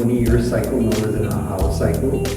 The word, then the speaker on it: Ajaw: cycle known as an Ahau cycle. Right across from where you're staying, they have the chocolate factory, Ahau. It says AJAW, but it's pronounced Ahau, a 20-year cycle.